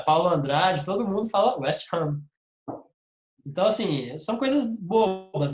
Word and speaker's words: West Ham: E aí é West Ham. A tônica é no Ham. E agora, cara, Paulo Andrade, todo mundo fala West Ham.